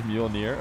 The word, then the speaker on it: Mjolnir: It's pronounced Mjolnir. Well, it actually is Mjolnir.